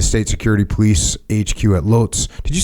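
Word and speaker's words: Łódź: time in the State security police HQ at Loz did you say it's like Woods is that what you said wood w that's so that's how you pronounce it yeah W yeah but like yeah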